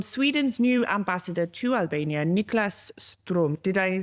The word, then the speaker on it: Niklas Strom: And it was from Sweden's new ambassador to Albania, Niklas Strom.